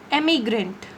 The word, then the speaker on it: emigrant: This one is emigrant. E-M. Emigrant. This one is immigrant. I-M. Im.